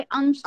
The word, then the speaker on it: अंक: अंक ये होगा Hindi pronunciation, but you have to pronounce it in Marathi. तो मराठी में कुछ शब्दों के प्रोनाउंसिएशन बदलते हैं. ओके. तो इसे हम प्रोनाउंस करेंगे अंक.